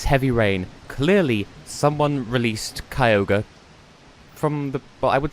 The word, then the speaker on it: Kyogre: But yeah, I pronounce it Kyogre, the mascot legendary Pokemon Sapphire. Some people, I think, pronounced it Kyogre, or something like that. But I think the Japanese name is Kyogre, so Kyogre.